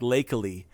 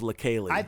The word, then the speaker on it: Leikeli: It's pronounced really different from how it looks. It looks like it should be like Lakely, but it's Lakeli.